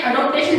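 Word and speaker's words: adaptation: First है acquisition, second है maintenance, third है जनरलाइजेशन, फोर्थ है अडॉप्टेशन। यहाँ पे जो लिखा हुआ है ना, यहाँ पे ये लिखा हुआ है ADOPTATI अडॉप्टेशन। ऐसी कोई स्टेज नहीं है, अडॉप्टेशन नहीं है, अडेप्टेशन है।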